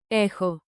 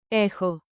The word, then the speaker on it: έχω: have echun pro tip pronounce chi like a soft KH. Forms with rhythm, clap lightly and say it with me. Rhythm makes memory sticky. echo I have